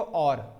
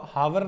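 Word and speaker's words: hour: Sound check करो, और इसको हावर ना पढ़ते हैं गाइस, हावर कुछ बच्चे बोल देते हैं बट आवर इसकी प्रोनाउंसिएशन राइट नहीं है, इसकी प्रोनाउंसिएशन राइट है और।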